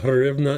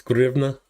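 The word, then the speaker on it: hryvnia: Like it's not Hrivna, it's Grivna. I'm never going to get past that because I learned it with the H, and it's like, I need to work on correcting my pronunciation of the Ukrainian H.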